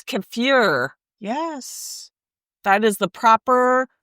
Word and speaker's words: kefir: We pronounce it kefir, but it's kafir.